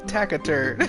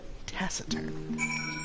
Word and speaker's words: taciturn: something sir taciturn oh I've been pronouncing that incorrectly been pronouncing it tacern taciturn I knew that didn't sound right but here we are